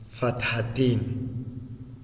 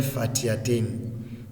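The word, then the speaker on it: فتحتين: ka bom a frenu tanwin fathatain ɛnyɛ fatihatain. The correct pronunciation is fathatain, kasratain, dummatain.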